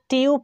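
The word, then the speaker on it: tube: হচ্ছে এখানে তো আমরা চিউপ উচ্চারণ করতে পারতাম টি এর পরে ইউ থাকলে আমরা চ এর মতই উচ্চারণ করি তাহলে এখানে আমরা এটাকে চিউপ উচ্চারণ না করে টিউব করছি কেন চলুন আমরা সেই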